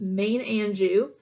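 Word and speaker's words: Maine-Anjou: another French one and this one's not too hard to figure out and pronunciation on this one since Maine Anjou they are originally red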